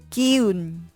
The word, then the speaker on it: 기운: 対し朝鮮固有の単語固有語は義勇 new と言います一方中国の漢字に